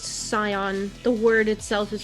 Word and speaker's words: Scion: Is it Scion or Skyon? I've heard it both ways. It's actually pronounced Scion.